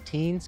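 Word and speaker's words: Tignes: we are in beautiful tygnus france i don't know why they pronounce it teens because it's got a g in front of an n cheers to teams boys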